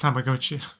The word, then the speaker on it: Tamagotchi: Tamagotchi. I mean, Tamagotchi. I mispronounced it when I was a kid because I didn't know Japanese, but it's Tamagotchi.